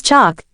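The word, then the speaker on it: Chock: to Persistence of course it was chalk just one syllable like Joan or du Joan and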